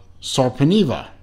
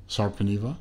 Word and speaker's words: Sarpaneva: actually this watch is from a company called Salkin Eva I believe I'm pronouncing that right that's the way I've always